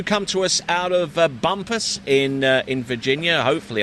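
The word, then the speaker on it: Bumpass: you got that right as you spell it on paper I mean some people might read bump ass but but um I'm glad you said it not me it could be frowned upon so Bumpus is uh what the locals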